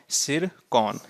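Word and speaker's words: Tsirkon: और hypersonic missile जो है उसका नाम क्या है, तो उसका नाम है सिरकॉन। क्या नाम है, सिरकॉन। इसमें टी क्या है, टी इसमें साइलेंट है।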